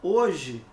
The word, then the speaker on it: hoje: exceto oi de novo aparece aqui ó a letrinha h para a gente analisar na palavra hoje você consegue perceber eu tenho quatro letras isso é indiscutível tá ok mas a letra h também não representa só não representa fonema então aqui eu só tenho o quê e três sons três fonemas nas demais alternativas professor